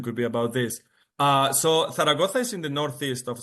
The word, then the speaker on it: Zaragoza: Zaragoza, Zaragoza, Zaragoza. I love pronouncing it in Spain.